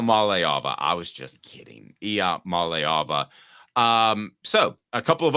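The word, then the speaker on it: Iamaleava: Mala Mala I malava I was just kidding IIA malava um so a couple of other questions let's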